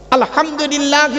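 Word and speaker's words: الحمد لله: একটু কথা বলুন না আলহামদুলিল্লাহি রাব্বিল আলামিন। এই মা বোনেরা ভালো করে শুনে নিন। আলহামদু এ গলার ভেতর থেকে হেটা উচ্চারণ করবেন।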